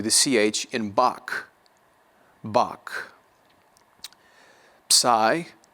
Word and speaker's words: psi: Psi or psi will be pronounced like the PS in laps, L-A-P-S, laps.